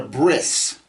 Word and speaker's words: bris: they call it a bris. And I've told you before that the there are certain sects of Jews who pronounce the T sound at the end of a word as an S.